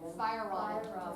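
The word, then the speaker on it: Feierabend: Fire Robin. Fire. What? Fire Robin. Like fire and then Robin.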